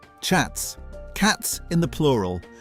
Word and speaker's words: chats: Chats, cats in the plural. The S on the end, completely silent. Chat.